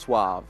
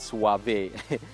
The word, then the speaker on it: SUAV: If you notice from our logo, it's a S-U-A-V. So because people are pronouncing it suave when it should be pronounced suave. So I just made it easier for people by taking away the E.